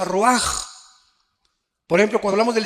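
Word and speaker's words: רוח: con r de Raúl a c h se pronuncia Roach por ejemplo cuando hablamos del Espíritu Santo El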